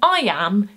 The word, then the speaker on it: iamb: It is satisfying that an iam is an iam, in that the am of iam is the stressed syllable, so it's an iam.